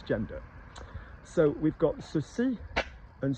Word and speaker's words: ceci: So we've got ceci and cela, C-E-C-I and C-E-L-A. Let's be very clear as well, C-E-L-A, cela, and C-E-C-I, ceci, are pronounced the same as C-E-U-X-C-I and C-E-U-X-L-A, the ones that we've